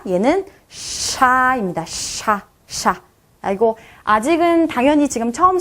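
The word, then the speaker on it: ш: 얘는요, 샤라고 읽어주시면 됩니다. 샤, 샤. SH 발음 생각하시면 돼요. 샤, 이런 발음이 나게 되겠죠?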